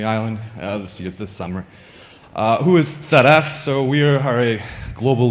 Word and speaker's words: ZF: It's pronounced ZF because it's German and British say ZF as well as the Germans.